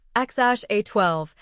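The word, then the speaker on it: X Æ A-12: X Aea 12 Musk pronounced something like Xash A12.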